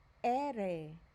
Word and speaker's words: ere: The letter R is pronounced ere, ere.